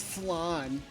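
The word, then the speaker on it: Phlan: New Flan City, we got it. It's flan. It's pronounced flan.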